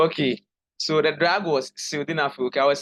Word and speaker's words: sildenafil: Oh, sildenafil, it is spelled S-I-L.